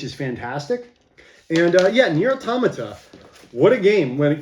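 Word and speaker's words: NieR:Automata: we are talking about the near automata that's how you say it it's not automata nir automata uh limited edition yes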